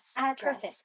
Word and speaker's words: address: We often stress the first syllable of a two-syllable noun or adjective. Context, produce, address, perfect.